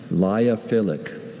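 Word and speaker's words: lyophilic: Liophilic. Can Can I have any alternate pronunciations? I see only liophilic.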